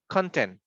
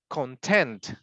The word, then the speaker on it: content: So the first one is content, but the second one is content.